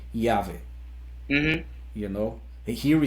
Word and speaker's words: Yahweh: Yeah, Eloy Casagrande, he was from a band called Yahweh, Hmm.